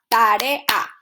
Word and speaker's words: tarea: So just remember, when you have 2 strong vowels, you separate it into different syllables. We have tarea, we have paseo.